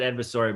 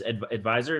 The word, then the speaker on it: Advisor: I said Adsvisore, but it's just Advisor.